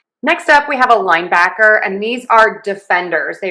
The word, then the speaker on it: linebacker: So to say this name of this position, we are going to stress syllable one. Linebacker. Linebacker. Linebacker. Linebacker. Linebacker. We do have secondary stress on back. So it almost sounds like we're falling. Linebacker. Linebacker. Linebacker. It's not linebacker. No, it's linebacker.